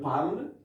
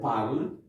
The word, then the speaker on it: parlent: The spelling is different, but we pronounce it the same as this one here, okay? So, ils parlent, they speak, they talk. Elles parlent, they speak or they talk, okay?